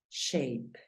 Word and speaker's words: shape: Mírala acá, el sonido de la A es EI. Por lo tanto, la pronunciación de esta palabra es shape y significa figura, shape.